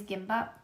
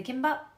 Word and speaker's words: 김밥: So it can be a hard K or a soft G. I typically do a hard K with the gimbap. But it's kind of like one of those things, it's kind of both, but it could also be either, you know?